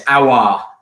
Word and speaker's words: Aouar: But yeah, it's Aouar.